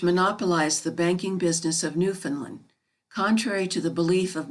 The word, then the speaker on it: Newfoundland: of their country is pronounced with the accent on the last syllable newfound land the main street of